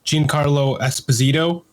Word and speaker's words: Giancarlo Esposito: next we had the actor uh hopefully I pronounced this correctly Giancarlo Esposito yep who plays moth Gideon moth Gideon yeah